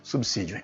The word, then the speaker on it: subsídio: Subsídio. É assim. Depois do prefixo sub, a letra S tem sempre o som de C, nunca de Z.